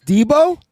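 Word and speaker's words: Deebo: B is next year Deo Nick damn it I can't even say his name yes yes yes it's Debo and it's Trent Williams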